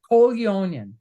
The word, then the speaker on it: Koljonen: Koljonen. Say it again, Koljonen. Koljonen, because Yes. it's spelled. I knew I wasn't gonna Yeah, get it's the J. It's Finnish, so the J it.